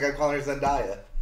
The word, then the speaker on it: Zendaya: It's Zendaya. It's Zendaya. Zendaya. Now, apparently Zendaya herself says that is how she pronounces her name.